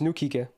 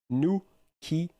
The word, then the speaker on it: nukige: Yeah, it's pronounced Nukige. Gabun. It's Japanese. Nukige. Nukige. That's how it's pronounced.